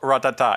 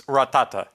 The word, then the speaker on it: Rattata: very important thing is it's not ratata it's rattata so yeah this is